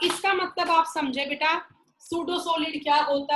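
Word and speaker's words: pseudo: लेकिन जो amorphous solid है वो होते हैं सूडो सॉलिड। यहाँ पे पी बेटा साइलेंट है।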